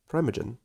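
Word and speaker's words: Primeagen: Primma like primary and gen like generator. Primagen.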